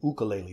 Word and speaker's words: ukulele: 101 easy ukulele solos or to give it the Hawaiian pronunciation 101 easy ukulele solos my first tip on